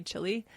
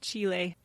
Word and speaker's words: Chile: can say it right Chile I always say Chile and they're like that's the restaurant the country is pronounced Chile we have two sons my 19 and 18-year-old